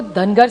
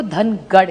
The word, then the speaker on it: धनगर: एक तो धनगर समाज की बड़ी मांग है कि उनको ट्राइब में धनगर, महाराष्ट्र मराठी में धनगर कहते हैं, नॉर्थ में उसी को धनगढ़ कहते हैं। सो इट is only a pronunciation thing.